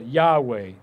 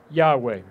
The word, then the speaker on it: Yahweh: yad hey vahe now if you say that really quickly you end up getting the word yahweh now when you write